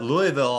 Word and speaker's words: Louisville: Louisville. Oh, I We're didn't sorry. look. That's Louisville, that's the way Yeah. you pronounce That's the it.